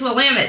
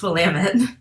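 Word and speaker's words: Willamette: University which is in Salem Oregon so it's Willam it damn it okay I mispronounced something in the last show too I'm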